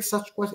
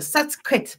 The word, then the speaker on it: Sasquatch: claro, Sasquatch, pero es que ellos lo decían Sasquatch, no Sasquatch. Como los decimos nosotros, dice Sasquatch, no, Sasquatch, una pronunciación, y decían que este,